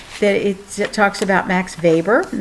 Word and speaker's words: Weber: it talks about Max Weber and that W is pronounced as a V and he's a very